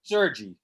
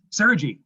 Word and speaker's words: Sergi: And I think you said it, and it didn't register with me, the correct pronunciation of your last name? Sergi. Sergi.